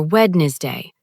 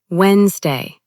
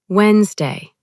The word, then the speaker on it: Wednesday: Some people say wedness day or wedness day. But the correct pronunciation is Wednesday. Try repeating softly. Wednesday.